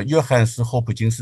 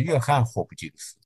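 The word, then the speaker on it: 约翰斯霍普金斯: 当然很有名了，叫约翰斯霍普金斯大学。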